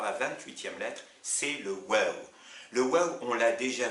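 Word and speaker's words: واو: Alors, il s'appelle waw et il se prononce ou.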